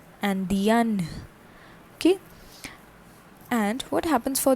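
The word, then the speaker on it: Indienne: Okay, for femina an extra N and E is added to what we have for the masculine and the pronunciation changes and becomes Andien. Andien.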